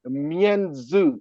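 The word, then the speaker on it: mianzi: the pH of the Animal Kingdom is called meu in Chinese m i a n z i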